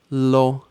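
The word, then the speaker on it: לא: words first one is lo silent Al at the end Lo means no live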